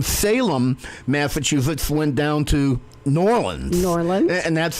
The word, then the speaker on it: New Orleans: You got to say New Orleans. New Orleans. It's two syllables.